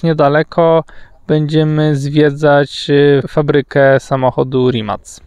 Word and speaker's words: Rimac: będziemy zwiedzać fabrykę samochodu Rimac. Po ich niemu wymawia się Rimac. Po angielsku to Rimac, nie? Ale to tak jak mówisz Dacia na dacie, nie? No. Więc raczej wymawia się w języku oryginalnym, nie?